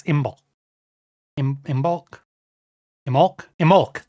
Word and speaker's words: Imbolc: Imolc, that's it. You don't pronounce the B.